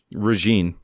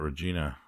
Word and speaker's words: Regine: It's Regine. Oh, I thought you were talking about Regina, and you were saying it wrong. I think it's Regine. It's Regine. Regine, she's got some backstory connections to the first one.